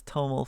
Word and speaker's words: TOML: I'm making an instructional video for Rust, which uses Toml files when I'm saying cargo. How should I pronounce it?